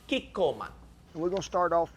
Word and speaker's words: Kikkoman: reading it to you now we recommend chico kiko man is that how you say it shannon who